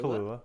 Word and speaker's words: Kahlua: Kahlua.